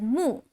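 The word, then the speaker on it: 木: Pronounced as mu, so this means tree.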